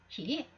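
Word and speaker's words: 日: 그래서 이것은 요라고 읽으면 안 돼요. 타이요, 태양 할 때는 이거를 음독을 해서 요가 되겠습니다만, 이거는 훈독을 하게 되면 그냥 히입니다. 히.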